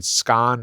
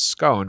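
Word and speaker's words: scone: Another example that somebody found recently, which we have a little demo of, is distinguishing between the word "scahn" and the words "scohn," which are two pronunciations of the same biscuity thing.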